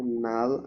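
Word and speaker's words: null: নুল নুল, zero না, নুল।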